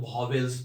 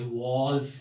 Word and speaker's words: vowels: 99% लोग वॉवेल्स बोलते हैं इसको। आपको जान के आश्चर्य होगा कि ये वॉवेल्स नहीं है, ये वॉल्स है। इसका जो करेक्ट प्रोनाउंसिएशन है WAALS। तो ये स्पेलिंग सही है, लेकिन इसका जो प्रोनाउंसिएशन है वो वॉल्स है, ये आपको याद रखना है।